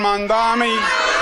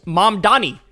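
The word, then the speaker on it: Mamdani: congratulations to Zoron Mandami. He literally doesn't know how to say. He still doesn't know how to say his name. It's mom Donnie. Mom Donnie. Mom Donnie. It's not that hard.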